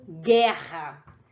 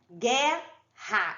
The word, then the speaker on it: guerra: u não é pronunciado a mesma coisa com guerra guerra eu sei que tem uma arena g ué mas ele não é pronunciado então quando eu tiver